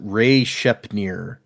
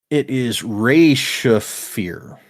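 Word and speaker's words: Re-Shephir: But in my head, I always pronounce it Ray Shepnir or Ree Shepnir, and that doesn't make any sense. There's not an N in there, but that's just what is in my head for some reason.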